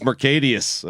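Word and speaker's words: Marcedes: I think it's pronounced Mercadius.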